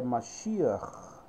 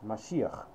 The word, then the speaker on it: Mashiach: Na sua pronúncia hebraica é Mashiach, tá? Mashiach.